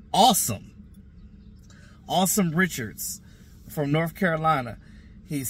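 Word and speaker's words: Asim: uh well it's spelled a Sim but it's pronounced awesome Richards from North Carolina he's six four three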